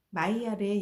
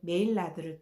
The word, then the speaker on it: Maillard: 마이야르는 아미노산과 당질을 함께 가열을 하면 갈색으로 변하는 것을 발견하였는데 마이야르의 영어 발음인 메일라드를 따서 메일라드 반응이라고 부르게 되었습니다.